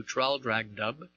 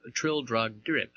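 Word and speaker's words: Traldragdubh: and my retinue to tr drag dub or Trill drag drib for it is pronounced both ways as near as I can remember by a party of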